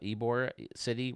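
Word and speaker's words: Ybor City: Uh Eore City, right? That's how they say it.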